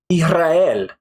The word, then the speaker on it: Israel: R what happens is the S kind of disappears but it actually becomes more like a Spanish J or an English H right so I'll give